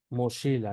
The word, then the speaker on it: mochila: La che se pronuncia como la X en Shola, ¿sí? Entonces tenemos, por ejemplo, la palabra mochila, ¿no? Mochila, que sería moshi, mochila, ¿sí?